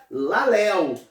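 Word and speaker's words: λαλέω: é lá Léo e se escreve lá Lia mais se pronuncia lá Leo significa falar significa pregar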